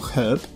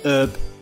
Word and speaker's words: herb: Jeśli zastosujemy wymowę brytyjską, czyli wypowiemy H na początku wyrazu herb, to stawiamy przed nim przedimek nieokreślony A. Jeśli zaś postawimy na amerykański akcent, to H będzie w wyrazie herb nieme i tym samym będzie trzeba użyć przedimka nieokreślonego N.